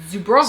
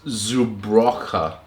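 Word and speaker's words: Żubrówka: Bison grass Zubrovka. Zubrovka. Vodka. Zubrovka. Vodka. Smakowa. Vodka. He doesn't remember that W's are pronounced like V's.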